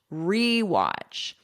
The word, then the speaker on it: rewatch: And notice for pronunciation, e. I'm not doing like a schwa sound, watch. American pronunciation, we love our unstressed schwa sound in our throat here, but I'm not doing that. This is a full e, rewatch.